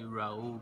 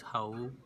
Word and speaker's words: Raul: I think everybody say Raul, but the right pronunciation is Raul. That's how we say in Portuguese, but I'm used to it.